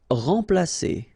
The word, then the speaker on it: remplacer: Remplacer. So M together, and after that you've got a consonant, so it will be like a nasal, so like en. Remplacer. Remplacer.